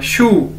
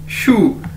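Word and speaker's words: 书: और इसी तरह हमारे पास वर्ड है शू, शू मतलब बुक, जिस तरह हम जूते के लिए शू बोलते हैं इसी तरह आपने इसको बोलना है शू, एस एच यू, शू, शू, शू मतलब बुक।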